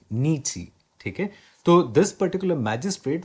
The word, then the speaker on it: Nietzsche: Remember Nietzsche. This is pronounced Nietzsche. Nietzsche.